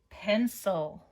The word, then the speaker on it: pencil: Pencil. Pencil. This is a 2-syllable word. Pencil. All right, let's check it together. Again, that soft C because of that I there, okay?